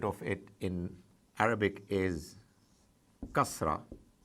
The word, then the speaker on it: kasra: I, the equivalent of it in Arabic is kasra, kasra. Now, it is as if I already think that you already know it, the use of zabar. So I put a vowel above ka, and it is kasra.